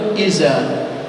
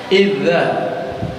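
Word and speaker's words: إذا: Tapi kenapa ada orang yang membaca iza? Kenapa ada orang yang membaca izaja? Kok iza dia dibacanya? Idza.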